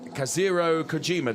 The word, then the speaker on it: Kazuhiro Kojima: And then Kazuhiro Kojima. Did I pronounce that correctly?